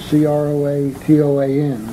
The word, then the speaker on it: Croatoan: Carved on one of the trees was the word C-R-O-A-T-O-A-N, Croatoan or some such pronunciation.